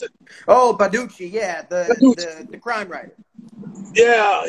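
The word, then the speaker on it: Baldacci: David Baducci, Badaki. Is this how you pronounce it? Oh, Baducci, yeah, the crime writer.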